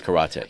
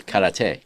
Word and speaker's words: karate: And so you do both Taekwondo and Japanese karate.